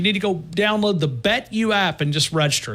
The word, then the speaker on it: BetU: Simple BetU, just like the letter. You don't spell it Y-O-U, just U.